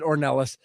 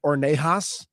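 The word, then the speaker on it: Ornelas: like it it probably they pronounced it Ornelis. I definitely thought it was going to be like Ornas, but it's just one L. It's not double L.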